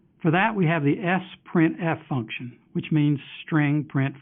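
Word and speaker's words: sprintf: into a file for that we have the S printf function which means string print formatted and it's often pronounced spread f it's a snap to learn because the only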